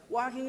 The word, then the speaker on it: walking: man that's old school walking is great how do you pronounce it walking what there's an L in there though I don't hear that walking no walking walking